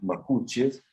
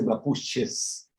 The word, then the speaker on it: mapuche: Ah, qué Mira, los pueblos originarios, en este caso los mapuches, sin S, ¿eh? Porque mapuche no se dice mapuches, se bien.